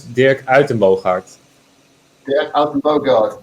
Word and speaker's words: Dirk Uittenbogaard: again go no worries a my name is dick Alton both hearts Bogart and there you are an amazing Dutch Ottoman